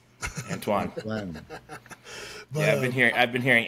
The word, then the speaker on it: Antoine: They say Anton, but that's like it's Antoine. Antoine.